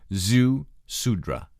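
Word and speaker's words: Ziusudra: the the zhu zi you pronounce that zhu sudra and it was revealed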